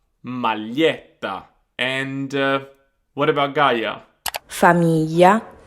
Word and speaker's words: maglietta: So we've got the words famiglia, famiglia, figlio, figlio, foglia, foglia, maglietta, maglietta.